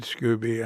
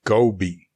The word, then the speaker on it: SCOBY: you if i made scooby i guess you know the next thing i knew i'd be saying thank you to it control tower correction katrinka just told me i'm mispronouncing it it's scoby scoby so anyway all right